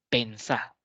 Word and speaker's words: pensá: Comé, decí, pensá. Ese voceo a veces, al terminar la palabra con la mayor fuerza de voz en la última sílaba, requiere de acento.